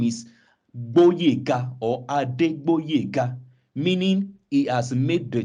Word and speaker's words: Adegboyega: The G there has been removed to Boyega instead of Boyega. So there's meant to be a G before the B.